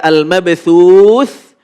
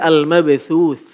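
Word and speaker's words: المبثوث: Cara membacanya adalah ketika waqaf keluar nafas sedikit. Sehingga al-mabthuth. Al-mabthuth. Ada terasa keluar nafas.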